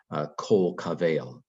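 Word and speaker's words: כָּל־קֳבֵל: This Makaf here says that its pronunciation, these two words go together, kol kavel. And so there's not enough breath for this to be a long vowel. And so this is a short O.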